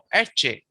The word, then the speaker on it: Ecce: Ecce, etche. So the accent is on the first syllable.